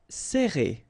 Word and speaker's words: serrer: All right, so interesting here because you get this E and then double R after that. So it will open the sound of E, okay? So you will pronounce it like E.